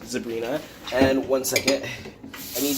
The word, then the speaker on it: zebrina: I believe is how it's pronounced, zebrina.